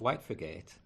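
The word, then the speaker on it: Whitefriargate: square and head towards White forgate how we pronounce it locally by the Pelican Crossing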